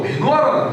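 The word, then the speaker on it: מנוחה: 이 쉴만한이라는 단어가 어떤 뜻이, 어떤 단어냐면은 히브리어로 메노아라는 단어예요. 메노아예요. 일단 기억해요. 메노아. 따라해봅시다. 시작. 메노아. 뭐 누구 원래 문어적인 발음은 이거예요.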